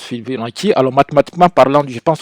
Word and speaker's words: Fibonacci: Alors on m'a dit que ça se prononce Fibonacci.